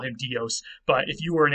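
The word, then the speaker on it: Διός: to say Zeus's thunderbolt, you would actually say Dios. You would not say Zeus, you would say Deuse, and the D is still there, and it's spelled with a delta there in Greek.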